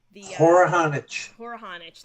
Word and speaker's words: Horohonich: you i want to again get the correct pronunciation for your um for your name poor honich thank you thank you sorry about that i